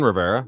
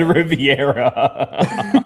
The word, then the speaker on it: Rivera: You said Alexis Rivera. Or is it Riviera? I may be. It's not I only looked Riviera, at. you shithead. Riviera. He's probably It's not Puerto Riviera. Rican though. Austin Rivera.